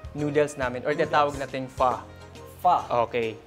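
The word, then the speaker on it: phở: namin or tinatawag nating fa fa okay yung ph yun you pronounce It's fa talaga oo talaga okay Meron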